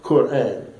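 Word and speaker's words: Qur'an: the blueprint for life and notice I said Quran I'm always one who like to uh help Muslims pronounce the Arabic words correctly and knowing the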